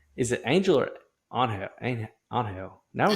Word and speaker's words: Angel: Angel. Now we It's got name Angel.